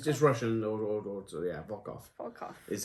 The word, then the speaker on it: Volkov: It's just Russian or so yeah, Volkov. Volkov. Is how it's spelled, but it is Volkov.